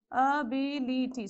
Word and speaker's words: ability: So first you check for the syllables. How many you have? Ability. So based on the vowel sounds only we can find the syllables, isn't it? So now from end, the third syllable. So 1, 2, 3. You have to place the vertical bar before B.